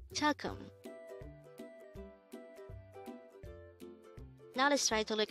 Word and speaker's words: 조금: the word chalkum so that's jaw plus gum it's jalkam chakum now let's try to